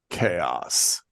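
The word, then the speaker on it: Kaos: a new show called chaos chaos but it's spelled with a K and there's a reason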